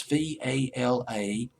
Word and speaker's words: Valadiers: I'm hoping I pronounced that right. It's Valadiers. Valadiers.